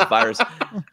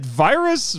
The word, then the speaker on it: Viras: But it was more creative than essentially dumping an entire reel in Gamera versus Viras. And yeah. Is it Viras?